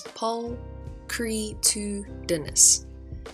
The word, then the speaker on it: pulchritudinous: Pronunciation is pulchritudinous.